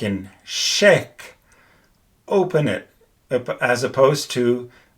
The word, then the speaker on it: chèque: And here the pronunciation is different because you have to open your mouth. Like in chèque, open it, as opposed to with the aigu accent.